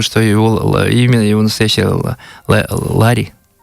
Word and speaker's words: Лари: И вообще ударение на последний слог. Угу. Оно означает, я знал, это буддийское имя, оно означает навес над Буддой по-тибетски. Лари.